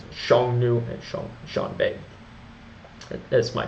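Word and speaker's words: Xiongnu: i o n g n u and I pronounce it Shong new and Sh Shan is my best pronunciation I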